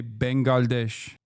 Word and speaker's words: Bangladesh: Bangladesh. In Turkey. In Turkey, we say Bengalesh.